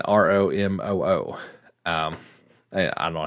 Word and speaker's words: Ramuh: Apparently, and this is according to Twitter, so it must be true, Ramuh, Ramu, is apparently it's supposed to be pronounced Ramu, as in Romoo.